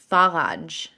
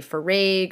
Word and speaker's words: Faraj: Because it's Iraqi, so it's supposed to be pronounced Faraj.